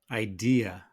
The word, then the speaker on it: idea: And that's why the natural pronunciation of this word is idea.